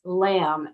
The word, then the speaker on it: lam: meditation or yoga and for the root chakra that's lamb l-a-m lamb um so if you